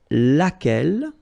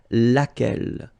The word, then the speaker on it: laquelle: So basically same rule, QU, U is not pronounced here. And then you've got this double L-E. Well, phonetically here, it is the same as what we have here. So, laquelle.